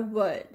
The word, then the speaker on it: world: Then we have world, but it's very difficult to pronounce it like this because we naturally pronounce it like this, either world or world.